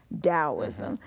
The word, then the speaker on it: Taoism: Taoism its ta I but it's pronounced D so it's Taoism so Taoism is central